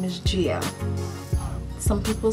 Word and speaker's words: Jia: Her name is pronounced Gia. Her name is spelled J-I-A. I named her myself, and people call her Jaya.